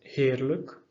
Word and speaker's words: heerlijk: So even though it's written with ij, we will pronounce, instead of a, we will say e. So for example, heerlijk, huwelijk.